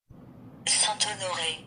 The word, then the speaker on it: Saint-Honoré: Untuk pronunciation yang betul, boleh dengar pronunciation Google telah saya sediakan di sini. Gâteau. Gâteau. Saint-Honoré.